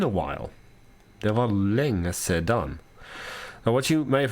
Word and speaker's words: sedan: Det var länge sedan. Now what you may have heard is that rather than länge sedan, she said länge sen. Sometimes the Swedish just won't pronounce certain letters.